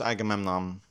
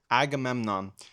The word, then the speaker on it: Agamemnon: I I think it's pronounced Agamemnon. Agamemnon.